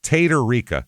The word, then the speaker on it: Tatarika: It's Tatarika as it's spelled.